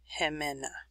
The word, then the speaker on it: Jimena: this is a pronunciation so if you're not sure how to pronounce that you can sound it out and then you put it all together hemena flying through a storm